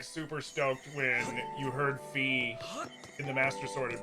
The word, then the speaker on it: Fi: to whale on it is it pronounced fear or fi I call her fee I've never heard her referred to as fi I could be wrong though but I've always referred to her as Fe the one chosen by